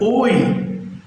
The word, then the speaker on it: hoy: Ela está nas palavras, mas ela não tem um som para a gente.